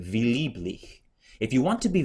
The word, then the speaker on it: lieblich: And then you have, again, the same vowel combination, IE, so V, lieblich.